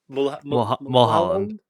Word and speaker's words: Mulholland: Mulholland Drive, or Mulholland, I can never pronounce it. You could, Carson, you're a States person, come on. Mulholland.